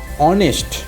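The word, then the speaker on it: honest: Historian, তারও আগে এ, কিন্তু এখানে হনেস্ট নয়, এটা হচ্ছে অনেস্ট। হিস্টোরিয়ান মানে ঐতিহাসিক, আর এখানে অনেস্ট, এখানে হনেস্ট কিন্তু নয়, অনেস্ট, অয়ের মতো, এই এইচটার উচ্চারণ হচ্ছে অয়ের মতো, এই এইচের উচ্চারণ অয়ের মতো, অনেস্ট।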